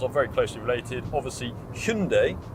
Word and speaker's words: Hyundai: very closely related, obviously Hyundai as it now has made clear that it would like to be pronounced in the UK, not Highendai as a lot of people have said, are very closely related.